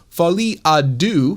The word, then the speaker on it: Folie à Deux: has a new movie, The Joker, Part 2, Folie à Deux, I believe is how you pronounce that.